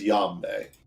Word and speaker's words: Yambe: His name was Yambe. I should probably write that down. I already got it written down. Yam. How do you spell that? Like Y-A. Harambe, but with a Y instead of a Yam Haram.